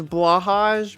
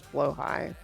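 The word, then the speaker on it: Blåhaj: It looks like it's blahage, but it's blow high.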